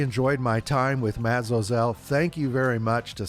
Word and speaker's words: Zosel: It's Zosel. Kind of rhymes with Cosell.